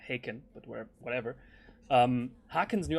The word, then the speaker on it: Haken: or sorry i'm german i pronounce them hack i know they're haken but where whatever hackens